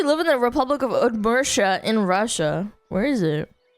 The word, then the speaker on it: Udmurtia: Udmurtia.